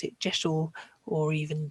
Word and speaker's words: deosil: was actually diesel, or almost sounds like diesel. So that would be a legitimate pronunciation. But most people in the pagan world pronounce it Jeshel or even Josel. So it is not pronounced deosil.